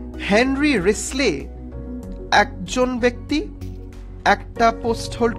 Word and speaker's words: Wriothesley: আমরা উচ্চারণ করব WRI, মানে ও এর উচ্চারণ নেই, টি এর উচ্চারণ নেই, এইচ এর উচ্চারণ নেই, ই এর উচ্চারণ নেই। তো এটার উচ্চারণটা হচ্ছে রিসলি, WRISLEY, রিসলি।